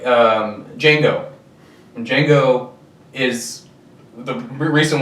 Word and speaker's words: Django: He's like, "Django." The D is silent, and he goes, "I know," because that's him.